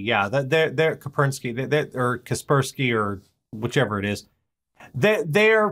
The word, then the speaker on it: Kaspersky: Kapersky, yeah. They're Kapersky, or Kaspersky, or whichever it is.